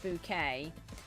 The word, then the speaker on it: Bucket: Um, so if anybody has ever heard of Hyin Bouquet, but her name is actually spelled bucket, but she pronounced it as bouquet.